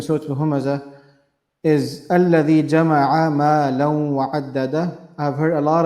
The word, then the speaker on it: مَالًا: So الَّذِي جَمَعَ مَالًا وَعَدَّدَهُ, not مَالَهُ.